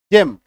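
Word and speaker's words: gem: है चलिए उच्चारण देखिए जी ई एम जम जम मतलब रत्न ये खाने वाला जम नहीं है है ना खाने वाला जम का अलग अंग्रेजी हो होता है वो जे एम होता है क्लियर है नेक्स्ट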